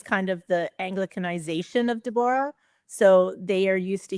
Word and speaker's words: Deborah: Yeah, it's pronounced Dborah. Yeah. So, you just pronounced Yeah, you just pronounced every syllable.